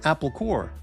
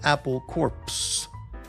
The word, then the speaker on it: Apple Corps: Uh, Beatles called their company Apple Core, not Apple Corpse.